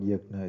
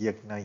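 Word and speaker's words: यज्ञ: It can be pronounced yajna, yajna uh, in popular usage. The exact pronunciation is yaj, as in Yajurveda, or yajnam, the G and N sound together.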